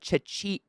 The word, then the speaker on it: Czechia: But Chechia, that's literally how it's spelled. I know it sounds like I'm saying Chechia now. I'm not. Chechia, I'm not trying to be insulting. That's the official name of the Czech Republic.